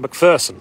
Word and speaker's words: McPherson: towards macpherson's ridge and that's the correct pronunciation of not macpherson macpherson mcpherson scottish name scots scots irish good protestant scots irish name mcpherson so as they're coming